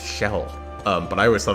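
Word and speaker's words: Kjelle: I I've been told her name is actually pronounced shell um but I always thought it was K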